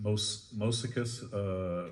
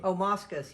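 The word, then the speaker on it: Moschus: But the document that for that one was John, I can't pronounce his last name, Mosicus. Moscus, yeah.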